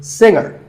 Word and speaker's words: singer: Another popular word with a silent letter is singer. The G is silent. Now, we say finger, we say the G. Younger, again with the G, but singer, no G.